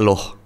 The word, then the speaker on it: Luh: Kalau cewek biasanya anak pertama pakai loh. L u h. Loh. Loh, jadi ni loh. Niluh. Niluh. I luh. Oh, gitu antara u sama o gitu loh bacanya. Bukan loh, bukan luh.